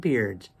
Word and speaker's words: beard: beard mentioned together H because bear makes a long a sound and the beard makes the long e sound just by adding a